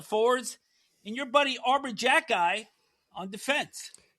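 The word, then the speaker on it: Xhekaj: and your buddy Arbor Jackkeye on defense. Yeah, Arbor XA which is pronounced Jackie for whatever reason.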